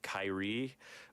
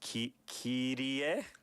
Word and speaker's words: Kyrie: is called, you know, the way that you would say it if you read it in English, it looks like Kyrie, but it's Kirie. Kirie. But Kyrie. It looks like you would just say Kyrie, but like, Kirie.